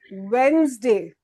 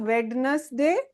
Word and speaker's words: Wednesday: This is Happy Wednesday. Not Wednesday. Happy Wednesday, okay? Just in case if any student was speaking wrong, now they know that.